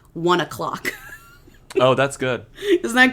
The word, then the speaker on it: One OK Rock: So he is in a Japanese rock band that is huge called One OK Rock, but it's pronounced 1 o'clock.